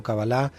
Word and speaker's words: cabalá: pero eh También decir cabalá no está no está mal en hebreo en general se dice cabala con ese acento final en la a pero no